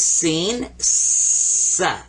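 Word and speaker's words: سين: stems coming up now this one is seen like a regular s and this one is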